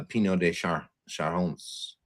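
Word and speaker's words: Pineau des Charentes: PDC, which is, uh, Pino de Shahones I think is how you pronounce it.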